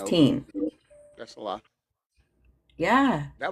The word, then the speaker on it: Berenstain: So now they spell it T-A-I-N, bears. It used to be T-E-I-N. Yeah. Yep. And they're saying it's always been T-A-I-N, Tane, versus teen.